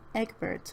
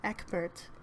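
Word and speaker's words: Ecgberht: a speech before king eggbert of north that's not how you say his name cain ekbert of northumbria and all his courtiers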